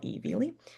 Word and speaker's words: Viele: I believe his name is pronounced Viele, Veely.